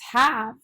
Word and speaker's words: have: heart word is have the e should tell the a to say its name so it should be ha abe have but it doesn't say hey that says have so because it says a short a even though it has